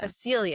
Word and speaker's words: Basilia: She's like, it's Basilia. What's her name again? Say it for real. Basilia? Basilia. Basilia. It's literally spelled like basil, like yeah, basil.